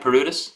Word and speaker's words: Paroutis: Am I pronouncing that right? Paroutis?